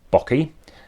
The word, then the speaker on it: Bocchi: I think his name is pronounced Chris Bocchi, rhymes with hockey, as well as Mosaic, which was a fantastic game.